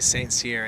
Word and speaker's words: St. Cyr: Likewise, but I heard the announcer say St. Cyr, and that made it all the better.